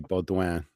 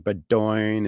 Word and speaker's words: Beaudoin: The yes, French Canadian pronunciation would be Beaudoin. Baudouin. Here Yeah. it's pronounced every which way, like Bedoin and Bowden and Doink, Bodwin.